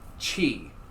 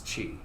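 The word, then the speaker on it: qi: Like chi. Q-I. Well, One of the best, most cheap fucking words in Scrabble is chi.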